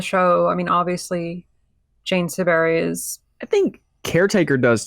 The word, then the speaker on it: Siberry: I mean, Siberry, and that's how you pronounce her last name, is iconic for the